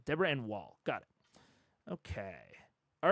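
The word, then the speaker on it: Deborah Ann Woll: Since you may be saying her name a lot, I usually hear it pronounced like Wall. Deborah Ann Wall.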